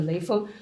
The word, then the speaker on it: Lei Feng: Lei Feng, in Chinese pronunciation, the Lei Feng.